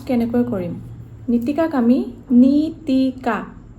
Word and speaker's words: Nitika: তেল আমা presence feel করে এটা নিতিকা আমি প্রোনাউন্স কেনে করি নিতিকা আমি নিতিকা তে প্রনাউন্স করি নিতিকা নিতিকা এনে